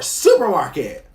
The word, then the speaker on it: SUPRMARKT: So give it up for Supermarket. The website is supermarket.la, and that is spelled SUPRMARKT.LA.